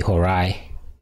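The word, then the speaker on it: Horae: diphthong in Latin and whenever you have a e as a diphthong it's phonetically an I so would be Hirai where the word hours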